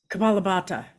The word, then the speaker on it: Kapalabhati: Kapalabhati.